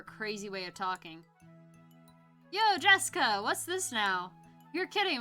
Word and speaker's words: Jessica: the same kind of weird name anyway it's pronounced Jessica she's dad's older brother's daughter that older brother